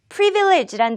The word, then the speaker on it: privilege: 오늘 우리 처음으로 함께할 단어는 privilege란 단어입니다. 같이 한번 발음 연습 시작해보죠. privilege, privilege, privilege. 첫 음절의 강세를 둬서 읽어주세요. privilege, 특권이라는 의미를 가지고 있습니다.